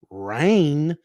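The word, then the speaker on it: Rayne: right reigns now we have a town called rain that's spelled r-a-y-n-e your friend install systems using a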